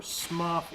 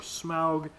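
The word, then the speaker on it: Smough: say his name, and it's like Smo with S-M-O-U-G-H. People think it's Smo, or Smuff, or Smaug. I like Smo.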